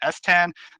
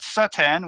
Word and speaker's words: Estan: We kind of intended the pronunciation just to be Estan, but when we gave the script to the voice actors, we got different kinds of results. We got normal Satan, which is understandable because it's literally Satan of Wrath. That isn't a huge problem. We got Satan, which is not the correct pronunciation of Satan, and then we just Stan.